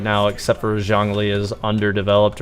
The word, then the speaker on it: Zhongli: I believe Zhongli's name is actually more appropriately said as Zhongli, like with like a harder symbol, or not a symbol, but a harder syllable at the beginning.